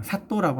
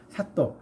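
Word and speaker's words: 砂糖: 설탕, 사또라고 하는 설탕이 있고, 사또. 그 사또는 변사또, 춘향전에 나오는 변사또 할 때 사또하고 발음 똑같습니다.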